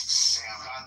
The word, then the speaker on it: salmon: It's salmon.